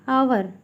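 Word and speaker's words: hour: Unique N यू, ice cube N, rubber A rubber N, apricot an आवर, क्योंकि यहाँ पे एच जो है साइलेंट है, ओ का यूज हो रहा है प्रोनाउंस, इसलिए एन यूज़ हुआ है।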